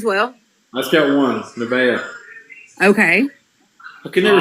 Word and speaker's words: Nevaeh: I just got one, Nevaeh. Okay. I could never say her name right till they told me her name was Heaven spelled backwards.